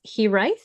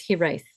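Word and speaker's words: Hiraeth: And apparently it's, now I have to read my pronunciation. So it's Hiraith.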